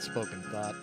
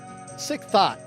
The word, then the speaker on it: Sick Thought: Not spoken thought. Sick thought. Sick thought. My bad. I said it wrong earlier.